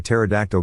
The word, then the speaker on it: pterodactyl: can't you hear a pterodactyl go to the bathroom because the p is silent i love signing documents